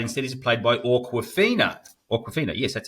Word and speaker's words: Awkwafina: Awkwafina, yes, that's how you say it.